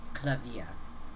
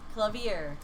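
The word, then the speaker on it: Klavier: way to pronounce if if you want to pronounce uh his name like the german word piano which is it spelled the same as that you'd say clavia clavier yeah i say clever i anglicize it a little bit because i'd sound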